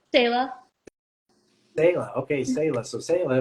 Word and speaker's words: Selah: Selah.